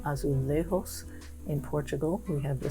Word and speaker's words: azulejos: spanish style is called azulejos in portugal we have the same word but that's called azulejus because we pronounce the j here and they don't there sometimes i i forget